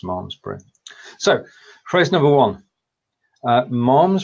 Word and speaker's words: Malmesbury: did check before that Mars breeze still pronounced mom's Britain so phrase number one